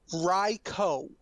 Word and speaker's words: Raikou: Okay, according to Torgo Entertainment, Yeah, it is pronounced Raikou. Raikou.